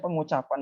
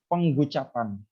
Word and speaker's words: pengucapan: Jadi kayak misalnya pengucapan ini mereka akan bilang penggucapan. Penggucapan. Jadi huruf eng itu tidak umum di bahasa Inggris.